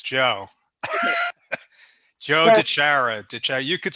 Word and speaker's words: DiChiara: we i know we've had conversations but joe bijagara and i may have pronounced your name wrong oh no you botched